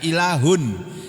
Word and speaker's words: ilah: Alihah itu bentuk jamak dari kata tunggalnya ilahun. Ilah, tulisannya ilahun, membacanya ilah.